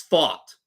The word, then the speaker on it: Pfaadt: I think Brandon Pfaadt is spelled Pfaadt, but it's fought, like fight. We fought.